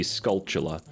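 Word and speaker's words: Skulltula: the first way skulltala all the way that I recently learned that apparently it's supposed to be sculptula like a tarantula but the word the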